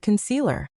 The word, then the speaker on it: concealer: How do you naturally pronounce the word concealer? The answer is you have to master the lazy English sound, thewah, in the first syllable and stress the middle.